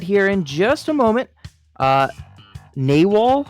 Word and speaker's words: Nawal: Nawal, I think, is that how you say it? Yep. Because I know it's that not was Narwhal. how we were told to say it. Nawal.